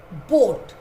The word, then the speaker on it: boat: Look, in these words, the red A is silent.